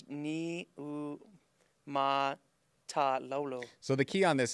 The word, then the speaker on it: Niumatalolo: I might butcher this, but it's Niumatalolo.